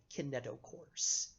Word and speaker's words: kinetochores: group of proteins called kaneto course okay i n ET o CH o r es kaneto course the kinetochores